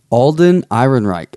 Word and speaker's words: Alden Ehrenreich: Alden Ehrenreich, I believe.